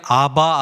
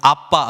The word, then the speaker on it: 아빠: 말하고 똑같아요 아빠 에 예전 성공 성경에는 아바 아버지 이렇게 짠 아요 요즘 개정된 거 보면 아빠 아버지 입니다 원래 발음이 그거예요 그럼 똑같아요 아빠 이렇게